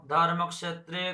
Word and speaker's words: धर्मक्षेत्रे: धर्मक्षेत्रे को को আর পেট কাটা মুদ্রেশ সংযোগে খ হয় তো প্রথমে কোটাকে উচ্চারণ করব তারপরে স উচ্চারণ করব তাহলে কো আর স সংযোগে যেমন বাক্স হ্যাঁ বাক্স রিক্সা ক স সেরকম এটাও ক স উচ্চারণ হবে খ উচ্চারণ হবে না সংস্কৃততে ধর্মক ক্ষেত্রে धर्मक्षेत्रे